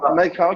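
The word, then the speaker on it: Mai Khao: C'est ça, je le prononce bien. Exactement, Macao, qui veut dire le bois blanc.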